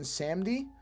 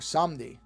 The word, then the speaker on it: Samedi: He's called Baron Samedi, or Samdi, depending on how you pronounce it. I think the movie actually pronounces it 2 different ways.